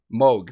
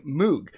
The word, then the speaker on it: Moog: the germanic way of saying it is moog and then a lot of english people say moog he actually did say a lot of people in his family haven't decided how they want to say it but when he and his wife got married they actually sat down and decided like which one they're for sure going with and it's moog so just a cool